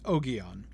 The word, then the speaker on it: Ogion: that's how it's pronounced, Ogion. And I particularly like that because, of course, there are a couple reasons why. One, it's just kind of more fun. And 2, because it almost rhymes with Obi-Wan then, which I kind of like.